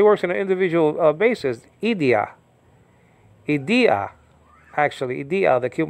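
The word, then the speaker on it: ἰδίᾳ: individually so he works in an individual basis idia Ida actually ID the cute markers on the second syllable i d i a or Iota with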